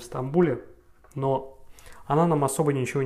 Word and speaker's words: Стамбул: То же самое Истанбул у нас, это, естественно, Стамбул, и Тайпей у нас это Тайбэй.